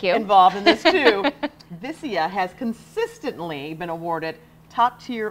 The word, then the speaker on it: Vicia: Yes, and I had to ask you before, how do you pronounce it? Everyone Vicia. Asks. Vicia.